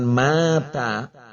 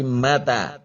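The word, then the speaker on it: متى: Kemudian yang ketiga adalah mata, artinya adalah kapan, ya, bukan mata tetapi mata, karena kadang salah pengucapan. Kalau mata itu artinya dia telah mati, tetapi kalau mata itu kapan? Mata, ya, bukan mata, ya.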